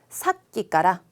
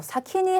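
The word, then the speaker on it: 先: 사끼까라. 사끼 발음 주의하셔야 되죠. 아까부터 초금 안 하시고 사키니 하면은 먼저란 뜻이 되니까 저 발음 주의하시고요.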